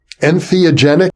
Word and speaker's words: entheogenic: and you you also focus on a term entheogenic am I saying it correctly yes yes I